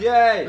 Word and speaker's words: jij: Daar staat jij! Staat niet ik kardes, staat niet Mahmut, staat j i j. J I J. jij. Dat spreek je uit als jij!